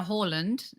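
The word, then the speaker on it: Haaland: according to everybody and then now and now horland if you're going to go with the correct pronunciation i believe a loser because he missed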